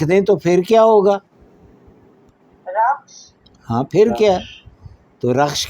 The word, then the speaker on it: رخش: جی کیا آپ تلفظ کریں گے؟ رے، خے اور شین. رخش، اس کا چہرہ.